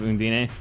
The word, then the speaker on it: Undine: Japanese pronunciation of Undine. I expect nothing less while here. Apparently it's Undine is the correct English pronunciation.